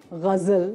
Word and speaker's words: Ghazal: Ghazal. Ghazal. Ghazal. Wow. You pronounce it right.